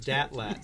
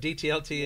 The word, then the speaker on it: DTLT: Yeah, one student pronounced it Datlat, so you can. But DTLT is fine too.